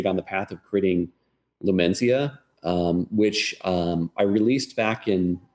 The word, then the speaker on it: Lumenzia: And I got, how do you pronounce that? Lumenzia? Lumenzia. Lumenzia.